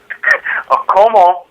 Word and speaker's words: comment: Comment, like come on.